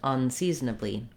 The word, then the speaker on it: unseasonably: So both words are stressed on the second syllable.